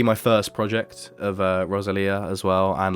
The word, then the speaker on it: Rosalía: lot of differences so my number three is rosalia with motor mummy oh yes i'm so glad